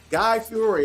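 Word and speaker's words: Guy Fieri: away if we want to G Guy Fiore guy fiori is how you pronounce his name he has restaurants on board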